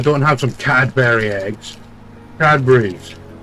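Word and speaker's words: Cadbury: have some cadberry eggs CAD berries that's how it's said by people in the country that was founded on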